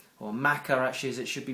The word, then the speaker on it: Maca: like uh we've got the bee pollen there mocka or Maca actually is it should be pronounced which is an amazing root powder uh